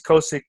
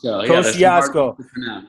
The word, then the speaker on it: Kosciuszko: And then in Australia, it's Kosiko, correct? Kosciuszko. Yeah, there's some hard ones Kosciuszko. to pronounce.